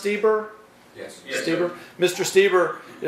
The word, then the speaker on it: Steber: So, is it pronounced Steber?